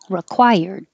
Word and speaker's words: required: one mute priority priority and the re is not stressed so you could say required but it's more common to change that re to required and this word stipend